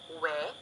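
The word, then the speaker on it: 위: We, also written as we, is pronounced we.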